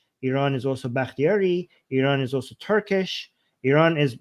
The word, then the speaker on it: Iran: Iranians oh oh yeah how do you actually pronounce this Armen Iran Iran okay yeah okay yeah nice so yeah